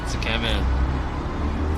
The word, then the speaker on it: Tsukemen: I said Tsukemen because I think that's how you're supposed to pronounce it, Tsukemen.